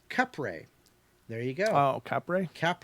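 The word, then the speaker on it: Kapre: the Philippines called the cap capper it is pronounced kep ray there you go Capri cap ray okay I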